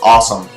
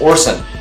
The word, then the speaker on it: Orson: I thought his name was Awesome, but it's Orson, which is obviously a reference to Orson Welles' Time Machine.